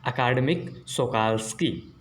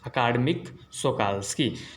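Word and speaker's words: Akademik Shokalskiy: नाम ध्यान में रखेंगे, क्या प्रोनाउंसिएशन इसका, अकादमिक सोकाल्स्की, अकादमिक सोकाल्स्की।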